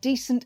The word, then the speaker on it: decent: Why is it so easy to get decent and descent confused? We think it's for these reasons. The words sound similar. Listen. Decent, descent. It's good if you can hear the stress is different.